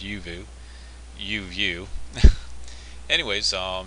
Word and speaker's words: Uvioo: even though it looks like uvo is actually pronounced yuvu you anyways um it's a website that actually